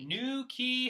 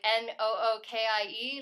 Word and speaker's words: New Quay: We have brought it from the New Quay Honey Farm in New Quay, Wales. New Quay, Wales. How do you spell it? Like Nookie, like Nookie Wales.